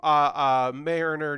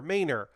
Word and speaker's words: Maynor: Welcome to Mariner Nate. Sorry, not Mariner, Maynor. I say Mariner sometimes, and it's just me reading your name wrong. You're Maynor Nate.